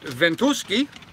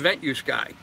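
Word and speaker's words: Ventusky: I was corrected yesterday, it might actually be pronounced Ventuski. If you're Polish or Russian, you might call it Ventuski, V-E-N-T-U-S-K-Y, or, you know, the American version of it, which is Ventuski.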